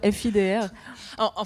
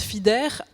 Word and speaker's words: Fidr: Moi je dis fidre mais quand les gens me disent fidè bah je les corrige pas en fait.